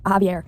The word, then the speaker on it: Javier: And then I guess this is Javier. Did you know it's pronounced Javier? I always say Javier in my head, even though I know it's Javier.